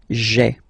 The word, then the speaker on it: j'ai: this e away, okay, so that you get this sound j'ai, j'ai, okay. So j apostrophe ai. Remember, when you combine this ai, you get the e sound, okay.